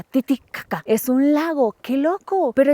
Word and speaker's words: Titicaca: Así me dijeron que se pronuncia Titicaca.